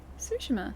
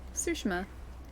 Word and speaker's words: Tsushima: Sushima. That's how you say it. Sushima. That's how the place is pronounced.